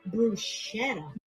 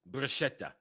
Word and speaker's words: bruschetta: Which is worse, breaking spaghetti in half or calling bruschetta bruschetta? No, it's bruschetta. Bruschetta. Not bruschetta. Bruschetta.